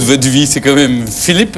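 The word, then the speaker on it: Filip: Le vrai duo de votre vie, c'est quand même Philippe. Alors, il faut le dire avec l'accent belge, parce que ça s'écrit en flamand. F-I-L-I-P, c'est ça.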